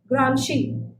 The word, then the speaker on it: Gramsci: It is Gransci, but it's pronounced as she, Gramsci.